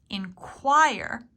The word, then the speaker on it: inquire: Inquire is to ask. Again, it almost sounds like KW, inquire, inquire.